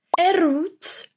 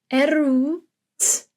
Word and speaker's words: erwt: So for the erwt, you go from the e to the r, and then we pronounce the W. Erwt, erwt.